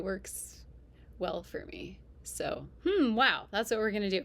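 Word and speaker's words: HMWAO: The acronym is hm wow.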